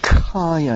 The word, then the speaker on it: khaya: Kaya is certainly the Pali scriptural term for this, which means destruction. The term is spelled Khaya, and not to be confused with the word Kaya, which means body.